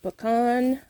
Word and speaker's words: pecan: I pronounce it Pecan.